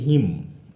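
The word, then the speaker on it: hymn: ঠিক আছে, কীভাবে দেখো, এটার উচ্চারণ হচ্ছে হিম, এইচ ওয়াই এম এন, উচ্চারণ হচ্ছে হিম।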